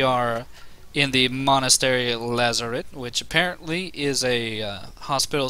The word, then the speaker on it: Lazaret: It might be French, because we're in France. Who knows? Which would mean it would be pronounced Lazaret. Lazaret. I love it. It's very silent T.